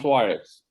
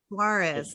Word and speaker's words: Soares: Soares. Soares. Emphasize the A.